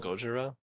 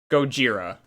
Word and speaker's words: Gojira: That's how they like pronounce it, right? They call him Gojira. Gojira.